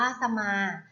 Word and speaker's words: สมา: ดู กัน เลย ค่ะ คำ ว่า สมา ค่ะ สมา อ่าน ว่า สะ มา จะ มา ประกอบ ไป